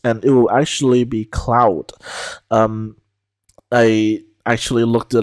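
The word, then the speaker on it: Claude: French you would say Cloe uh but um uh in more recent artist introductions he pronounces his name as Cloud because it's the way you would say it in Dutch and uh by the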